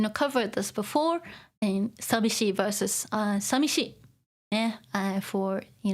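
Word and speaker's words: 寂しい: more common of course okay so normally it's pronounced sabishi but yeah sishi is possible too but uh uh this is more official Okay.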